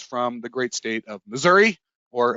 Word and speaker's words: Missouri: the great state of missouri or if i want to pronounce it correctly missouri and it's the show